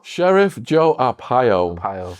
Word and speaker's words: Arpaio: throw a name out there um hopefully i'll pronounce it correctly yeah go for it joe up a pile sheriff joe arpaio pile right so he prided himself on being